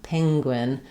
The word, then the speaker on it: penguin: So, it's going to sound a little bit like ping penguin. It's going to change the nature of that first vowel.